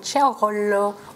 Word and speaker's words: Ciraolo: J'ai le grand plaisir d'accueillir aujourd'hui Massimo Ciarollo. Bonjour Massimo. Bonjour. J'ai bien prononcé votre nom de famille?